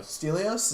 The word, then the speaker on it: Stelios: 400 I think 301 salvation Spartans um was stelios yes was he yeah stelio stelios is that how you pronounce yeah you're right is the only friend